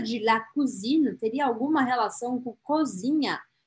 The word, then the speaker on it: cousine: E aí, la cousine, aqui sim eu vou marcar o N que está aqui. La cousine, la cousine. Tem que marcar esse N. A pronúncia de la cousine teria alguma relação com cozinha?